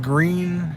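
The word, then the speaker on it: Gruene: in green texas yeah we are in green texas it's spelt g-r-u-e-n-e and uh this is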